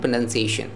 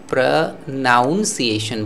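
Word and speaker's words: pronunciation: हैं, वो क्या है, प्रोनंसिएशन। प्रोनंसिएशन को बहुत सारे लोग गलत उच्चारण करते हैं, उसका अंग्रेजी बोल देते हैं क्या, प्रनाउंसिएशन बोल देते हैं, ठीक है। याद रखिएगा फ्रेंड यह गलत है, इसका ऑब्वियसली वर्ब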